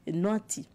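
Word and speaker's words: Nouatin: Alors, il faut rappeler que Nouati, ça s'écrit avec N à la fin, mais ça se lit Nouati.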